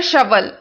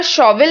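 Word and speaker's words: shovel: वे जैसे जैसे जमीन को गहराई तक खोद रहे थे, देयर शवल, यहां पर शॉवल नहीं पढ़ेंगे, इसका राइट प्रोनाउंसिएशन होता है शवल।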